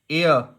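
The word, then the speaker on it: heir: एयर, इसको हियर नहीं पढ़ेंगे, एच साइलेंट होता है, एयर, एयर मतलब उत्तराधिकारी को बोलते हैं, एन आएगा।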